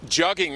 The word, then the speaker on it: jugging: Jugging rhymes with mugging.